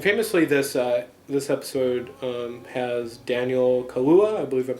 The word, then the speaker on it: Kaluuya: And famously, this episode has Daniel Kaluuya, I believe I'm pronouncing his name right, who starred in last year's Get Out, who's now nominated for an Academy Award for Best Actor.